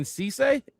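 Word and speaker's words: Cisse: At 52, cornerback Brandon Cece, that's how you say his name.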